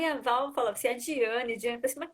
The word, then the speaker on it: Diane: Diane com pronúncia latina, como eu falo, né? Mas pode chamar de Daiane também, que não tem Ah, eu, problema.